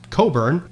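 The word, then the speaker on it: Cockburn: expeditionary force under the command of Rear Admiral George Coburn, spelled like this but pronounced Coburn and Major General Robert Ross sailed up the Chesapeake Bay towards Washington DC.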